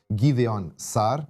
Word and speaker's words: Gideon Saar: E eu estou olhando para uma declaração do ministro das relações exteriores de Israel, Gideon Saar, acho que essa é a pronúncia correta, em que ele diz, basicamente, que a declaração do secretário de relações exteriores britânico é totalmente unilateral.